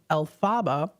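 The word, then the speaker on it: Elphaba: lfrank bom's uh writing Maguire formulated the name elaba from the pronunciation of his initials lfb um so there you go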